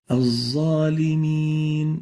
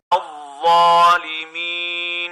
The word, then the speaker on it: الظالمين: We should pronounce it like this. الظالمين Al-zalimin, zalimin, dha, not sa, not za.